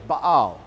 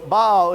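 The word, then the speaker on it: Baal: in English it's not bail its bow and there's a little apostrophe between the A's so bow it's just the Hebrew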